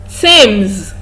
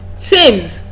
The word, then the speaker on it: Thames: it has th in its spelling, it is pronounced as t. Thomas, not Thompson. Okay, let's look at the next one. Thames.